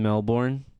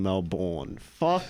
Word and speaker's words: Melbourne: in Melbourne. kill yourself for saying Melbourne.